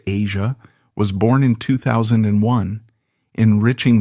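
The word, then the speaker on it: Eja: Their son, Ija, pronounced Asia, was born in 2001, enriching their family life and intertwining personal responsibilities with professional commitments.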